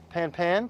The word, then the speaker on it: pan-pan: You would repeat the same information, but you would say it like so: pan-pan, pan-pan, pan-pan.